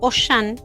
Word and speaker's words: Auchan: Poner al campo en francés es Auchan, ¿no?